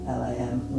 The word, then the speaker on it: Lam: It's the energy that clears it, that wakes up that chakra, and then we start to chant Lam, L-A-M, Lam, which is the one-syllable Sanskrit mantra that goes with that chakra.